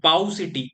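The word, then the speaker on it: paucity: तो पाउ सिटी, इसको प्रोनाउंसिएशन तो इसका पेक्यूटी होता है, पर हम पाउ सिटी से इसको याद कर सकते हैं।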